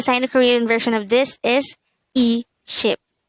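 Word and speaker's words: 이십: The Sino-Korean translation of this is e ship. E means 2 and ship is 10, so that would be the same as saying 2 sets of 10, and that is equal to 20.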